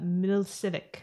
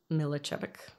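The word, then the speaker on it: Miličević: And then the third girl in the bar, I believe it's, I'm gonna try this, Ivana Milicevic. No, it's I would say it's Milicevic.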